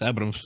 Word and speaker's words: Abrams: I mean, it's Abrams. Of course, the pronunciation is a bit different in Russian, but they get it quite right.